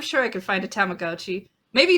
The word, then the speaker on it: Tamagotchi: Tamagotchi. That's how it's pronounced.